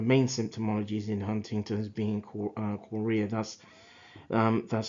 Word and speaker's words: chorea: one of the main symptomologies in Huntington's being cora that's um that's spelled C H O R E A um and where the edition became um broadly known um as Huntington's Korea.